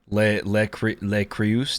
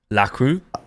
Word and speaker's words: Le Creuset: Le Creuset. How do you say that brand? Le Creuset? Le Creuse? La Crue?